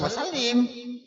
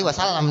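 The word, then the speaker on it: وَسَلِّمْ: Sholli wasallim. Jangan sholli wasallam dibacanya salah.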